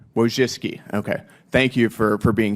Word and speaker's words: Wojcicki: Related to this, Miss Wojcinski, is that how you pronounce it? Yes, Wojcicki. Wojcicki, okay.